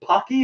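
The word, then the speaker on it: Paqui: what the one chip challenges or is it Pocky is that how you say it yes rocky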